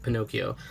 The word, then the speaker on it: Pinocchio: Fairy after watching Pinocchio Pinocchio so sorry I'm Mexican so in Spanish it's Pino and in English it's Pinocchio so it's like it